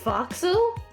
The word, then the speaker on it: forecastle: again so angry that this word has the nerve to be pronounced foxel can't just sing